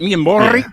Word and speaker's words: Miamorii: Miamorii, is that how you say it? Is it Miamorii?